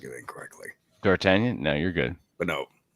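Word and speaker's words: D'Artagnan: was pronouncing it incorrectly dartanian no you're good but no and that that is the the g the goddamn g is silent yeah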